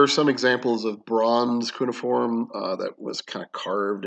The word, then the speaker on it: cuneiform: Ebenezzu is your native tongue, which uses a system of cuneiform writing. So cuneiform is or cuneiform. It's pronounced different ways, but I think cuneiform is the kind of official way.